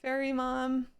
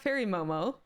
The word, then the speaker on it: Fairy Mom: Fairy mom. It's not fairy Momo. Fairy mom of boys. That's the name.